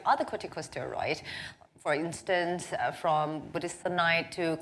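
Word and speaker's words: budesonide: nasal corticosteroid to other corticosteroids for instance from buddhist knight to kluti kazan what do you think i hope i got that pronounced right yeah that's right uh buddhisonite and futicazone so basically why people want to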